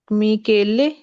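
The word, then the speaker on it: Michele: आहा, मा मी मिकेले। बिल्कुल। मतलब लेकिन कि जी स्पेलिंग पे गौर किया तो आपको पढ़ना है कि ये बांस केले नहीं, मिकेले।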